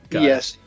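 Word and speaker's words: Slaanesh: Here, it's spell it. L. Herald. Herald. Yeah, but of L something. No, Slaanes.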